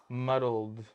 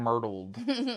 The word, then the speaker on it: muddled: And they did it so great because they, how do you say the word? Muddled. Your lime. I kept saying myrtled.